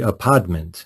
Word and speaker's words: apodment: The article points to an alternative, the apodment, and that's not me affecting a Brooklyn accent. That's me trying to pronounce the word spelled A-P-O-D-M-E-N-T, which refers to the